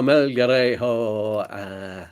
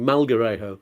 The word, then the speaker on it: Melgarejo: It's Melgarejo.